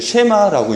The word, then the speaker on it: 쉐마: 그래서 신명기 6장 4절에서 9절까지 이 말씀을 이스라엘 백성들은 하나님께서 주신 말씀들 쉐마라고 얘기를 해요. 같이 한번 발음해 볼까요?